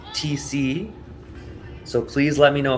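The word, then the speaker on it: Thiesse: is telling me that Cory's last name t is actually pronounced TC so please let me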